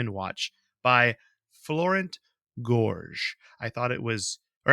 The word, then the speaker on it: Gorges: & Watch by Florent Gorges. I thought it was, or actually Gorges. I thought it was Gorget. It's not. It's just Gorges, according to internet pronunciations.